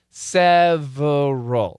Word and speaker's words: several: the perfect pronunciation is several several several several okay so it's schwat shorty seww seal several several several but almost always we delete the middle syllable and we say seal